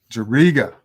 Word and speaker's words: Juriga: Today we got Jake Juriga. I pronounced that right? That's all good. Yeah, Juriga. Juriga. Yeah. Juriga. That's much better.